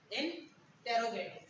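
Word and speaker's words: interrogative: देखिए, इंटेरोगेट इंटेरोगेटिव, क्योंकि ये आर तो हम नहीं पढ़ेंगे, ये आर तो साइलेंट होगा, बट ये आर तो हम पढ़ेंगे क्योंकि इस आर से पहले कोई वोवेल थोड़ी ना।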